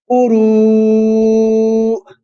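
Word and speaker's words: قروء: When a Hamza comes at the end of a word, you always do a slight jerk. Quru, and not as much as that. I'm just doing it to show you. I'm exaggerating it to show you how you actually pause on Hamza.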